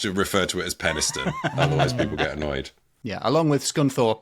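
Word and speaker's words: Penistone: Beo of Penniston. Is that how you pronounce it? Yes, you pronounced that correctly. Penniston.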